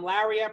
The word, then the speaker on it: Laria: I'm Laria, pronounced like Maria, but with an L.